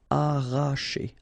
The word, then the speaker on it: arracher: Okay, don't pronounce the double R, sorry, it's just like if you would have only one. Arracher.